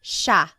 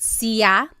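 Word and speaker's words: siya: It looks like it should be pronounced sa, but it's actually pronounced sha sha. There are some regions in the Philippines that might pronounce it sia, but for the most part in the central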